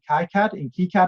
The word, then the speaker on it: KiCad: it all out in KiCad actually is how you meant to pronounce it, and I'll put it all on Hackster and GitHub.